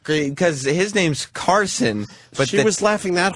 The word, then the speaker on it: Karson: Wait, they were mispronounced? I didn't even get it. Larson. Not great, because his name's Karson.